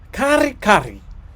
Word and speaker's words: kare-kare: I was told it was kare-kare. You can roll your R's. Kare-kare.